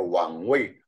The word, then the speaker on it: Wang Wei: Nah, tahta yang kedua Wang Wei ya, bacanya Wang Wei. Wang itu raja, Wei itu tempat duduknya ya, tempat duduknya ya, Wang Wei.